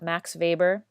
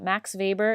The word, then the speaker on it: Max Weber: now and read about Max Weber starts with the W but it's pronounced like a V so Max Weber is the theorist who